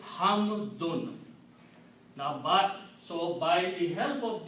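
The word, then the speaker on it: حمدٌ: They are called dhammatan, and they have the sound of noon. So the word is hamdun.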